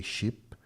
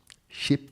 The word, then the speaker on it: ship: It's really hard to say ship because sounds like chip or chip. Ship It's the same sound. It's just um a little bit changes in the pronunciation, but ship faster. Sheep faster. Sheep. Sheep. Sheep. Sheep the animal.